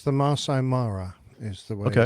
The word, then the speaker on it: Masai Mara: I think it's the Masai Mara. is the way Okay. it's generally pronounced. How again? Masai Mara.